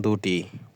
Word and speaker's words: the: সূত্রটি সাজালে দাঁড়ায় এমন: সি দা কনসোনেন্ট এর আগে থাকলে উচ্চারণ দা, ভি দি ভাওয়েল এর আগে থাকলে উচ্চারণ হবে দি।